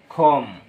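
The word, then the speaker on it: comb: আমরা উচ্চারণ করবো না বলব থাম আঙ্গুল খম চিরুনি ঠম বা টুম কবর নাম অসার এরপর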